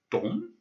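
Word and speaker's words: дом: The first word is pronounced dom. The second word is pronounced stol. And the third word, which might be new to you, is pronounced zavod. So we have dom, stol, zavod.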